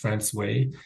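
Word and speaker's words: François: highlight France so it's it looks like Fran but it's pronounced franway in in New Finland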